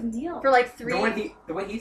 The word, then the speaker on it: Niall: Honestly, I've known about One Direction for like Neil. The way he says it is Niall.